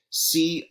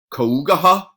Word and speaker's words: cough: that's spelled like this, C-O-U-G-H. How do you pronounce that word? Do you pronounce it Kougaha? Well, that would be a phonetic pronunciation of it, but it's pronounced cough, as if it's spelled K-A-F.